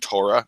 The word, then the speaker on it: Torah: a four-letter word and the last letter is hey then the he is usually silent like the word Torah that's very very common normally the hey at the end is silent but what all of